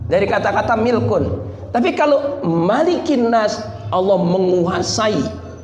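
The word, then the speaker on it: ملك الناس: pun boleh enggak salah Bagaimana dengan malikinnas malikinnas harus dibaca pendek Kenapa karena tidak ada perdebatan antar ulama malikinnas itu bukan mad asli enggak enggak ada madnya sama sekali bukan Mad Malik itu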